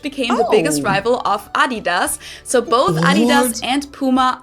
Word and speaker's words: Adidas: I didn't understand at all what they were referring to because they usually pronounce it Adidas and in Germany we say Adidas.